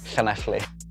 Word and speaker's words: Llanelli: How do you spell it? It's Llanelli. And say it again. Llanelli.